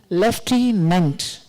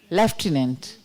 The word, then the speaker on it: lieutenant: Lieutenant. Lieutenant. So, left you don't have to pronounce.